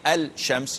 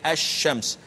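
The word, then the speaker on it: الشمس: Al SH yes yet you don't say al champs you say as shams and likewise with al Rahman al Rahim the L is not pronounced and you cannot pronounce it because pronouncing it would be wrong dua has an its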